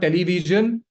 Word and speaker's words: television: It's not television. Television. Ta. TA not e you don't pronounce it. We were taught that you have to pronounce each and every letter as you see it. That's not how English pronunciation works. Okay, you need to break this. You need to break this habit. It's this this correct the correct pronunciation of this word is television. Remember the sh sound.